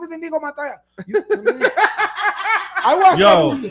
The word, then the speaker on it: Inigo Montoya: Oh, what about My name is Inago Mentor.